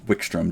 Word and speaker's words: Wykstrom: Wickstrom's name is spelled, Grizz is spelled WYKSTROM, Wickstrom.